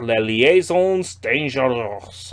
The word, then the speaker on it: Les Liaisons Dangereuses: A stylish new twist on the infamous French classic Les Liaisons Dangereuses. That's the official French pronunciation.